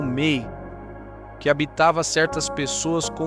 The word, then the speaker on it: me: Para eles havia uma energia chamada mei em sumério, pronunciada como mei, que habitava certas pessoas